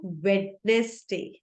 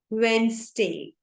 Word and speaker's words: Wednesday: Another word which is very commonly mispronounced is Wednesday. Wednesday. It is not Wednesday. No, it is wrong. Wednesday.